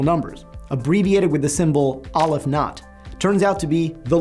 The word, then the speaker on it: aleph-null: The cardinality of the natural numbers, abbreviated with the symbol aleph not, turns out to be the least infinite cardinality. And yeah, I know some people pronounce this aleph null, I don't do that, tomato, tomato.